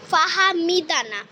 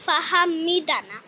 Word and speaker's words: ফাহমিদা: mistake তোমাদেরকে বলে দিই ফাহা আমার নাম ফাহা বলতেছি বানানটা আমি তোমাদের বলে দিই এফ এ এইচ এম এফ এ এইচ এম আইডি এ ফাহমিদা ফাহামিদা নট ফাহামিদা ফাহমিদা only ফাহমিদা বানানটাও ঠিক আছে